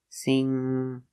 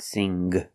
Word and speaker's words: sing: green beans sing and the NG makes a sound in your nose sing not sing sing I like to sing